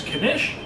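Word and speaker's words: knish: pronounce that beef connection you do pronounce the k i like it so we're going to try this kanesh looks delicious so unlike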